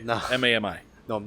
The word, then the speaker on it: Mami: And this is Spanish Mami, not Mommy. No. Mami.